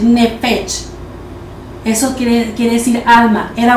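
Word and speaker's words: נפש: era una alma alma en hebreo quiere decir nefes es se escribe n e p h e s h nech Eso quiere decir alma era un alma viviente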